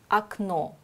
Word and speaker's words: окно: O wird nur so ausgesprochen, wie er betont ist. Und wenn er unbetont ist, sagen wir A. Akno zum Beispiel.